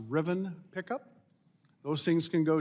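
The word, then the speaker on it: Rivian: anxiety you take a I think it's pronounced Riven pickup those things can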